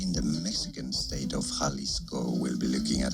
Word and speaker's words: Jalisco: How to pronounce the name of this city and the surrounding municipality in the Mexican state of Jalisco.